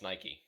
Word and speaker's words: Nike: up or for example discussions like how you pronounce nike nike or nike oh my god it's nike i think i will make a [ __